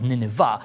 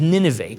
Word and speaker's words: Nineveh: So Nineveh, and in some contexts you maybe have heard it pronounced as Nineveh, but its proper pronunciation is Nineveh.